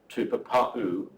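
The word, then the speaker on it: tupapaú: And the second one, tupapa'u, there is a stop, and a glottal stop means like a lost consonant, like ba'a, or something like that in Cockney.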